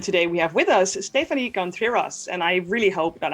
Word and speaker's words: Stefanie Contreras: publishing usa and today we have with us stephanie contreras and i really hope that i pronounced this the right way you did you